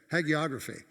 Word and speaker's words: hagiography: Yes, what Dick just said, hagiography.